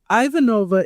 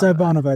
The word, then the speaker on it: Ivanova: Ivanova is the correct way to say it in Russian. Ivanova, but it's but in the in the canon in the cannon of Babylon 5, it is Ivan. It's Ivonova.